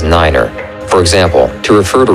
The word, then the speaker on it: niner: For numbers, speak one digit at a time and pronounce the number nine as niner. For example, to refer to runway 29, say runway 2 niner.